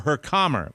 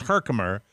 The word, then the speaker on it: Herkimer: m-e-r uh new york herkimer herkimer or her calmer but i mean it's herkimer and uh on sunday